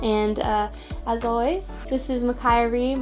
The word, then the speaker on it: Makiah Rea: as always this is Makai Reem my name rhymes with unfiltered me and that's how you